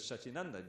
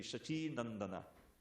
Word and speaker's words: Shachinandana: Just like everyone says Shachinanda, Jai Shachinandana, Jaya Shachinanda. But if it's in the verse, it has to be Shachinandana.